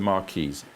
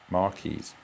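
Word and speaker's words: marquise: them here we have the mares spelled m r q i s e long pointing each side French word very popular shape Marys now I got to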